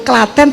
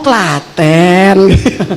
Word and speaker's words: Klaten: tulisannya bahasanya Britain ternyata dia menyebut Klaten tuh k beneran waktu dia ngomong tuh aku engak apa sih maksudnya apa gua bego banget gitu ya enggak ngah gitu enggak nangkap Oh Klaten rupanya Klaten dibacanya gitu ya Dan ini produk